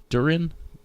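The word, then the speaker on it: Durin: Probably mispronouncing his name. Duran. Duran. D U R I N.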